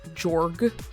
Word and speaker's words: Jorg: you pronounce Spider's Jorg, which is how I say it, Jorg. Because it's like George, but it gets cut off and there's only that G, so it's just Jorg.